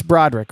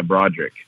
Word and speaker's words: Braudrick: thanks for having me did I pronounce that name right it's Broderick right yeah yeah correct correct yeah Broderick there you go and